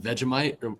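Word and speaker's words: Vegemite: Is it Vegomite? Is that how you pronounce it? Yeah, it was good. That was good pronunciation.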